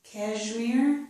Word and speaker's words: cashmere: SH, this is cashmere. It's usually pronounced with the zh, but it can be either.